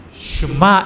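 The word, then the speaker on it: שמע: 히브리어 발음으로는 원래 슈마 이렇게 말합니다.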